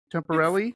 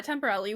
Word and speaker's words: Temperilli: Temporelli. Yeah, temporarily. We may be mispronouncing it, but that's what we go with.